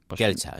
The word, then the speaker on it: Celsa: Kelsa, yo diría Kelsa o Kelsa, pero bueno, lo dejamos